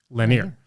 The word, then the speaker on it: Lenire: using a product called linear linear linear spelled l-e-n-i-r-e pronounced Lanier now let me mention